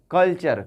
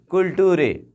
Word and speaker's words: culture: Question को हिंदी में क्या कहेंगे, प्रश्न, प्रश्न, CULTURE, कल्चर, कल्चर, टी क्या बन गया, च बन गया है।